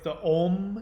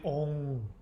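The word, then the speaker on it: ॐ: So that's why all of the om is actually ong. It has an ng sound.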